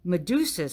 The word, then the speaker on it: Medusa: Medusa rhymes with Tuscaloosa.